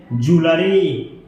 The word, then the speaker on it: jewelry: अगर कोई आदमी इसको ज्वेलरी पढ़ता है या ज्वेलरी पढ़ता है तो इसका राइट प्रोनाउंसिएशन है ज्वेलरी, ज्वेलरी।